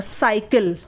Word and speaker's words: cycle: तो सी के आगे वाई है इसलिए सी का उच्चारण स हुआ। साइकिल, हम साइकिल पढ़ते हैं ना, तो सी का उच्चारण यहाँ पे स हुआ।